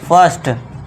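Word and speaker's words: first: तरह से क्या पढ़ेंगे फर्स्ट फिर से यहां शॉर्ट आ का साउंड निकलेगा फर्स्ट फर्म एफ के बाद आई आई है तो यहां पे आ का साउंड शॉर्ट आ का अनार वाले आ का शॉर्ट में लॉन्ग नहीं खींचना आ नहीं करना आ फर्म बर्थ फर्स्ट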